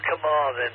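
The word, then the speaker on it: Carmarthen: with C A R M A R T H E N the town of Kamarin and we're 240 miles west of London Q.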